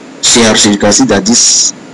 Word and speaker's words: chercher: So it's the R here must come out of the word. So what do you do? It's pronounce this way. Chercher.